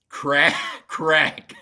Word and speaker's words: craic: Crack. It's spelled CRAIC, but it is pronounced crack.